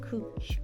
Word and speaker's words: couch grass: look at that couch grass cooch grass so men is the correct pronunciation cooch cooch trying to